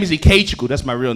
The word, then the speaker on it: Ikechukwu: And he goes, it's Ikechukwu.